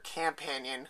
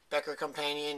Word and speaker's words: Becker Campanion: Camping, it's the Becker Campanion, spelled with an A, not Companion. I've seen a lot of people say Becker Companion, even spell it with an O. It's Campanion.